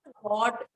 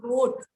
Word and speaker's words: wrote: pesos, so he could It's not rot, it's wrote. The word is not rot, the word is wrote.